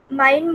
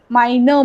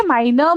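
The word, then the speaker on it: meine: माइनर मुटर. Okay, बाकी सब कुछ करेक्ट था, सिर्फ वो जो ई का प्रोनाउंसिएशन है ना, that is very important in German language. Okay, तो इसलिए माइनर मुटरिस्ट.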